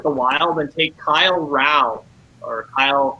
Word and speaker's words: Rau: They will stay with the Wild and take Kyle Rau, or Kyle R-A-U. Kyle Rau, I believe is how you pronounce his name.